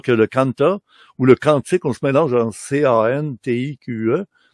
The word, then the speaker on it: quantique: Parce qu'on dira pas un aquarium, pourtant ça s'écrit aquarium, et on dit aquarium, on devrait dire quantique.